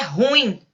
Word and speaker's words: ruim: Ruim ou ruim? Né? Ah, ele é ruim. Não, ele é ruim. Ruim é uma palavra oxítona e não tem acento também.